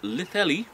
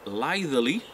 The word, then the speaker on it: Litheli: Now this is the Litheli, as I pronounce it, or Litheli, which some other people pronounce it, Litheli Eclair 1000 battery pack.